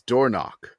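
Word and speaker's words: Dornoch: The one that is in the field this year is Dornock. Oh, that was a great name. That's such a good name. But it's spelled D-O-R.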